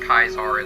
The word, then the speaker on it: Caesar: And yes, it is actually pronounced Kaizar in Latin.